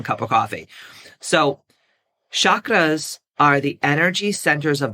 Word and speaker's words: chakra: First of all, what are the chakras? Okay. Or the chakras. Chakra is how you pronunciate it. It's how you pronounce it in Sanskrit.